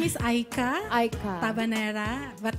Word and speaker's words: Aicha: My name is Aika. Aika. Tabanera. But the spelling is Aicha. But it's pronounced Aika.